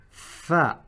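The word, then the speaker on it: ف: And it is the equivalent to the F in our English language. The same pronunciation, the same articulation, the same makhraj.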